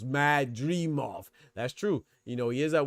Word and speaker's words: Madrimov: He said 3 syllables, Madrimov.